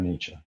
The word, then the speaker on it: Nietzsche: themselves but after expenditure there is more for nietzsche that's how you say it after reduction there's